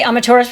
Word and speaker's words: Amaterasu: But if you say Amaterasu really fast, that's how you say it. Amaterasu. And so the U at the end of it is silent, so that will throw you off if you see it.